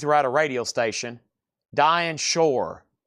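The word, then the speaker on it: Dinah Shore: Dian shore rhymes with poor.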